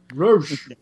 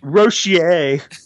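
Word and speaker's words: Roche: Roach. No, they'll overpronounce that like nerds always do. They're like, Nick Rochier. Nick Rochier.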